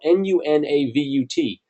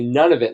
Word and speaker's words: Nunavut: pronounced or it's spelled n-u-n-a-v-u-t it's I think it's more like Nunavut but a lot of people just say none of it like I'm having none